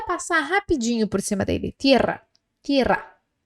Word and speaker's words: tierra: Tierra, tierra. E se você tá com dificuldade ainda assim, tenta separar a palavra por sílabas.